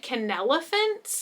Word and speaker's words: Kenelephant: things from this brand i think you pronounce it can elephants i always see it